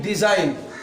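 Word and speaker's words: design: एस आई जी एन डिज़ाइन तो ये एन से पहले जो जी आएगा तो ये जी साइलेंट रहेगा समझ गए देखो यहां पे लिखा हुआ है एन से पहले जी हमेशा साइलेंट होता है तो देखो एन से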